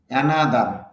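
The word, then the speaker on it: another: অ্যানিউয়ালি বার্ষিকভাবে, অ্যানিউয়ালি বার্ষিকভাবে, অ্যানাদার অন্য একটি, অ্যানাদার অন্য একটি, অ্যানাদার হবে না কিন্তু, নার মধ্যে স্ট্রেস আছে, তাহলে এখানে ধাক্কা হবে, অ্যানাদার, অ্যানাদার অন্য একটি, অ্যানাদার অন্য একটি, আনসার উত্তর।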